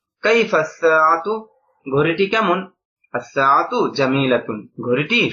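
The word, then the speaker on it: كيف الساعة: কাইফা সাআতু, ঘড়িটি কেমন, দেখেন এখানে আলিফ লামটা উচ্চারণ হয়নি, কাইফাল সাআতু এরকম না, কারণ সাআতুন একটি ঘড়ি, আস-সাআতু এখানে ওই যে সিনের শুরুতে আলিফ লাম আসার কারণে লামটা উচ্চারিত হবে না। কাইফাস সাআতু ঘড়িটি কেমন, আস-সাআতু জামিলাতুন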